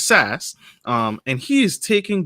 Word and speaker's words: SaaS: audio audience as well saa startups which is sas um and he is